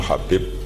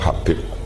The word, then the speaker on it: Habib: yang nulis Abi Abdurrahman Habib asulami itu di harakatnya kitab itu ada yang nulisub yang benar Oh yang benar itu bacanya habib habib itu Sulami itu ikut